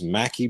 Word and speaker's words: maqui: For joints, I use Mackie berry. It's spelled MAQUI.